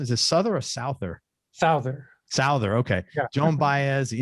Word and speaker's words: Souther: I never knew how to pronounce it. Is it Souther or Souther? Souther.